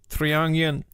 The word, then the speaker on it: Triangel: So it's like the same as triangle, but like GEL instead of GLE.